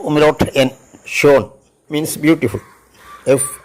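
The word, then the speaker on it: schön: means cheese S സി എച്ച് ഓ ഉംലോട്ട് N Sean means beautiful F യു ഉംലോട്ട് എൻ F fume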